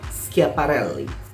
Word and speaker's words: Schiaparelli: Aku sangat bisa mengerti kenapa itu sangat membantu dalam pelafalannya. Karena menurut aku cengkoknya di sini sangat khas. Elsa Schiaparelli.